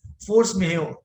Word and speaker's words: force majeure: If you have seen the contracts, in contract there is a clause for force majeure, M-A-J-E-U-R-E. J is silent. It's a Mexican term. Force majeure.